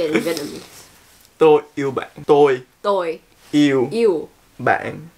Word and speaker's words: Tôi yêu bạn: Tôi yêu bạn.